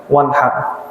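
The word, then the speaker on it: وانحر: Hati-hati cara baca fasholli li rabbika wanhar. Ada yang bacanya misalkan Bapak baca surah Al-Kautsar, bacanya pakai H besar apa H kecil kira-kira? Wanhar apa wanhar? Pak Haji pakai apa Pak Haji? H kecil, H besar? H kecil. Ya. Kalau H besar beda arti nantinya.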